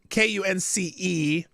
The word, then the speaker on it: Kunce: Oh, it's cunts. Rhyme with dunce. That's okay, YouTube. I said his name. Kuntz, Kunce.